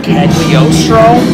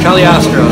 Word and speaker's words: Cagliostro: link that we say Cagliostro count Cagliostro the G is silent Italian or contest it's